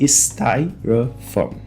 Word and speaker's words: styrofoam: E nós temos aqui um som muito específico que vai aparecer também em várias outras palavras do vídeo de hoje, que é o som schwa, que a gente chama em inglês de schwa sound, que é esse som aqui de garganta, como se eu estivesse falando Esse som ele é muito comum no inglês, ele é muito comum em línguas germânicas, e nessa palavra ele também ocorre aqui em styrofoam.